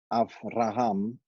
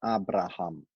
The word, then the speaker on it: Avraham: Abram, like a B, and Avraham and not Abraham. So in translations in our language and in English, the B is pronounced as a B and not a V. So it should be Avraham.